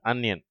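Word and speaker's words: onion: plug drug under uncle இதிலே முதல் வார்த்தையை தவறாக உச்சரிப்பார்கள் ஆனியன் என்று சொல்வார்கள் சரியான உச்சரிப்பு அந்நியன் அதுபோல அங்கிள் என்ற வார்த்தையை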